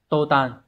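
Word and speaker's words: 途端: Như vậy chúng ta sẽ có cái câu này sẽ đọc là tô tàn.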